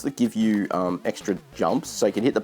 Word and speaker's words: Yoomp: coming too and there another game called jump and you itself supposed to be how a Polish person would pronounce jump and jump itself from